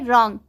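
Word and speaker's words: wrong: Second है रॉन्ग, इसमें भी W के बाद R आया है तो यहाँ W साइलेंट होगा, ठीक है, तो इसको हम रॉन्ग पढ़ेंगे।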